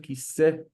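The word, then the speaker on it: כיסא: We can hear it ends with a consonant, kisse.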